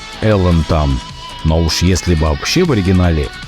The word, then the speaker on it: Alan Tam: Voici un album de 1985, l'artiste dont vous voyez le nom sur la pochette est Alan Tam Well ou Alan Tam (prononcer - Elan Tam) Mais si c'est le cas dans l'original -